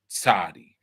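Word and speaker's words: צדי: It's pronounced like Tzadi. So it's not S and it's not T. It's a combination of them both, right?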